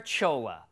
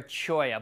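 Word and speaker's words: cholla: called a teddy bear Chola that's right a teddy bear Chola snug with me put forever it's actually pronounced teddy bear choya but it is the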